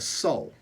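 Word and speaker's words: Sol: S-O-L, but pronounced soul.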